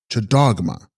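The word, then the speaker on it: Lcags-sgrog-ma: Text Gags Grogma, pronounced Chadogma, Sanskrit Vajra Shrinkala, she holding the chain, the Shakti of Hayagriva.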